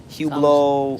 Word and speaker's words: Hublot: you got hublo you got uh hublo yeah hublo you know want hublo no it's spelled like Hublot but it's pronounced huo wow huo uh what's the other ones there's a whole